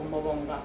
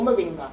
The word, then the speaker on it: Moringa: have a liking for moranga or Moringa depending on who you are how you like to pronounce it then I'm going to